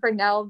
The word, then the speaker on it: Fresnel: of mine so it's it's bernell the s is silent don't know why i don't know who came up with it oh it's french of course it's french anyways stupid french i'm sorry